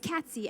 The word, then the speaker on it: Catsy: You bring out my impatience, because I will not take Kathy, Cassie, or Cassidy as a substitute. It's Catsy.